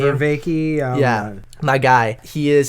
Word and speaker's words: Vervaeke: So this is where Jonathan Vervaeke, is that how you pronounce his last name? Vervaeke.